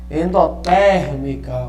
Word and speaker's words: endotérmica: Endotérmica, ok? Proparoxítona. Né? Todas as proparoxítonas são acentuadas, né? Onde a terceira sílaba tônica é a mais forte.